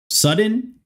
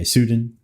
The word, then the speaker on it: Sudin: Is it Sudin or Sudden? Or like I gotta add like a Russian way of speaking to that, like Sudin or something. Yep, first. Oh, okay, Sudin.